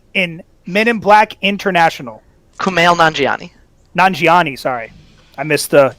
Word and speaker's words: Kumail Nanjiani: your next question and i apologize for the pronunciation already what is the name of the character voiced by kumar najini in men in black international kumail nanjiani nanjiani sorry i missed the yeah i didn't